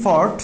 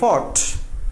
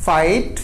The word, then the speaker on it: fought: আমেরিকানরা উচ্চারণ করে ফাট, মানে যুদ্ধ করে অনেক ফাইটে ফুটি যায়, এই জন্য আসলে ওরা উচ্চারণ করে ফাট, কিন্তু এটার উচ্চারণ হবে ফট, ব্রিটিশটা করে ফট।